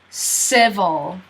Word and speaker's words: civil: So the C, just like in citizen, sounds like an S. S. Now, if you notice, civil, this I is not pronounced. So you go vol, straight from the V to the L. Civil, v, v.